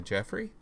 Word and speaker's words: Geoffroy: in just a second with my guest anna jeffrey and for any of you who were having trouble pronouncing that name that is how it's pronounced